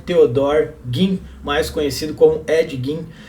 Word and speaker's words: Ed Gein: crimes do Edward Theodore Gein, mais conhecido como Ed Gein. E sim, essa é a pronúncia correta do nome dele, mesmo que não